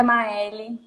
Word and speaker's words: Maeli: Já me ensina como eu pronuncio o seu nome, é Maeli? É Maeli.